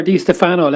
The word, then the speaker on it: Di Stéfano: Is it Di Stéfano or Di Stéfano? Let's sort that one out straight away. I'm pretty sure in Spanish they don't emphasise any particular syllables, so I think it is Di Stéfano.